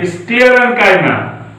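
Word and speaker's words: sclerenchyma: China मत पढ़िएगा, गलत प्रोनाउंसिएशन है, तो टीचर भी गलत बता रहा है, तुम लोग भी गलत पढ़ रहे हो, तो आप लोग गलत नहीं पढ़ेंगे। चाइना पढ़ते हैं, एक गलत प्रोनाउंसिएशन है। सही प्रोनाउंसिएशन है पैरेन्काइमा, कोलेनकाइमा, स्क्लेरेन्काइमा।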